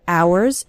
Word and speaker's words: hours: spend hours and hours remember the H in the word hours is silent so don't pronounce it